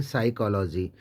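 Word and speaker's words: psychology: तरीके से हम बात करते हैं साइकोलॉजी साइकोलॉजी में पी के बाद एस आता है तो पी एस वाई सी एच ओ एल ओ जी वाई पी साइलेंट हो जाता है साइकोलॉजी जहां तक हम बात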